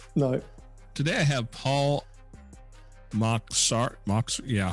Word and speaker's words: Mocsari: Well, we say Mocsari, but it's Hungarian, and I've been corrected by Hungarians before that I'm told I'm saying it wrong, but we use the anglicised version, so it's Paul Mocsari for us.